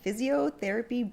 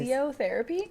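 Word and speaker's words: Fizziotherapy: Today we're going to try the 2021 Physiotherapy Blanc. It is Physiotherapy? Physiotherapy. Oh. It's spelled F-I-Z-Z. Oh, okay. I-O. Because it's like a sparkling white wine.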